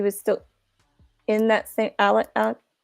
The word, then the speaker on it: Alex: JC says they pronounce it Alec, but it's spelled like Alex.